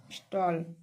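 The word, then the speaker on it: stall: टी A double L स्टॉल स्टॉल मीस दुकान यहां पर भी देखिए एस टी A double L तो इस ए का उच्चारण क्या होता है आ स्टाल आ यहां पर भी ए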